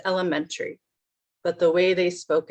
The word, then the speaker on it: elementary: the same sounds together but they put chests on lemon a elementary school as mentry is the stress lemon different word so sometimes it's it's